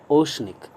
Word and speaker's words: oceanic: Okay, OCEANIC, ओशनिक. और ध्यान रहे तालव्य श पढ़ें आप. ओशन पढ़ना चाहिए तालव्य श.